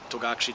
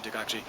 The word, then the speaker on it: Togakushi: So, back in the 12th century, it was Togakure. Somewhere like the end of the Edo period, thereabouts, everyone kept calling it outside of there, just call it Togakushi, Togakushi, Togakushi. And the locals just threw in the towel and just started calling it Togakushi.